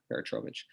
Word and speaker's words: Peratrovich: Elizabeth Peratrovich, is that the right pronunciation? Yeah, Peratrovich.